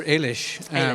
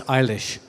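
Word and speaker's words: Eilish: you pronounce her name well I I would pronounce her Alish but I made a fatal mistake thank you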